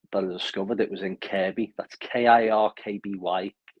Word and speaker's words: Kirkby: And it was only later that I discovered it was in Kirby. That's Kirkby. You might pronounce it Kirkby, but it's silent K, Kirby.